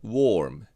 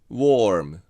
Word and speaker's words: warm: However, since there is an R after it , this /ʊ/ is almost inaudible. It's almost , so it's warm.